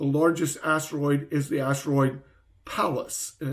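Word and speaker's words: Pallas: to listen the largest asteroid is the asteroid palace and it's spelled p-a-l-l-a-s and it's 500 kilometers in diameter palace 500 kilometers in diameter so asteroids are these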